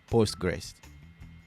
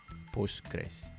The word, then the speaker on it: PostgreSQL: like the other guy the fifth one is postgresql postgres postgres postgresql that's how you say it i think this